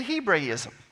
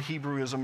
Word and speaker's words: Hebraism: This phrase, son of old age, is a Hebraism. Now, we normally pronounce it Hebrewism around here, so if that confuses you, it's the same thing.